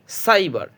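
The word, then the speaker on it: cyber: যেমন এখানে একটা ওয়ার্ড দেখুন, সির পরে ওয়াই আছে, সি ওয়াই বিইআর, সাইবার। সির পর ওয়াই আছে, এই জন্য সির উচ্চারণ করবো দন্তস্ব, সাইবার। পরেরটা আছে সি ওয়াই সি এল, সাইকেল, সির উচ্চারণ এখানে দন্তস্ব হবে।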